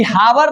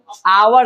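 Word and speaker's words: hour: ये हावर नहीं है। आवर है। इसीलिए यहां क्या प्रयोग हुआ है? एच साइलेंट है। एच का उपयोग हम नहीं कर रहे हैं। एच छोड़ के बोल रहे हैं आवर।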